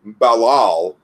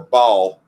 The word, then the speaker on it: Baal: So from Babylonian mythology, Balal, or Baal, as he's commonly pronounced now, was their great deity.